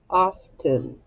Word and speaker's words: often: It looks like of 10, doesn't it? Yeah, it's often.